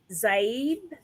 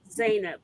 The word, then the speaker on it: Zainab: time and next i'm going to bring up zabe and correct me if i mispronounced your name did i do that yeah zayna nina zainab that's easy believe it or not mary did